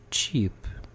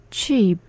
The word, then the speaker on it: cheap: 싸다라고 할 저렴하다라고 할 때 cheap. cheap.